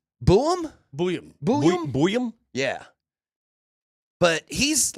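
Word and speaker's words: Buium: How do you pronounce his last name? Boom? Booyam.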